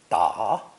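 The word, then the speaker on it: 打: both radical and phonetic it's pronounced third tone da da and means to hit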